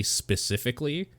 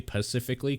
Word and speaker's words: specifically: misspelled I had a supervisor that couldn't say specifically so I hate when people say pacifically cuz you sound like a